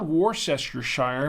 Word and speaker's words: Worcestershire: It's spelled Worcestershire, but it's people pronounce it Worcestershire.